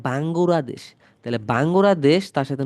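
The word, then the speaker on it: バングラデシュ: আমাদের দেশের নাম বাংলাদেশ, বাংলাদেশকে জাপানিজে উচ্চারণ করে বাঙ্গুরাদেশ।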